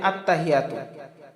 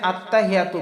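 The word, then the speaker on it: التحيات: সম্মানিত দর্শকবৃন্দ আমরা এখানে খেয়াল করি আত্মা আলাদা হিয়া আলাদা আমরা অনেকেই পাঠ করি আত্তাহিয়াতু আসলে আত্তাহিয়াতু পড়লে আমাদের ভুল উচ্চারণ হবে আমাদের খেয়াল করতে হবে এই যে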